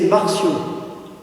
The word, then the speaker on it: Marcion: Le nom propre, c'est Marcion. Ça s'écrit M-A-R-C-I-O-N, Marcion, celui qui est l'inventeur de ce qu'on a appelé ensuite le marcionisme.